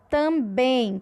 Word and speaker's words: também: A palavra também, que a gente viu no exemplo anterior. Também, a gente viu, que a sílaba tônica é o bem.